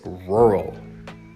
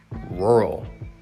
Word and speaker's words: rural: store only has three employees number five is rural rural now this is interesting because it's a word